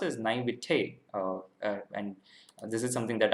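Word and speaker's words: naïveté: be the naivety oh yeah so it is pronounced as naivete and this is something that i didn't know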